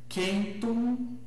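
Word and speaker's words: centum: Ah, o C, como acabamos de ver, sempre cultural, sempre como em casa. Então, cantat kellus kentum, né? boca fechada pronunci o M é bem pronunciado. Então, kentum, kentum, kíkeró, kíkeró, a letra D, que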